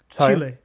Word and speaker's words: Chile: Um and also Chile Chile or Chile, how do you pronounce it? Chile.